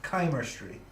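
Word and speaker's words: Chimerstry: coming up Oh so according to the actual White Wolf wiki it is pronounced Kaymer Street that's dumped my friend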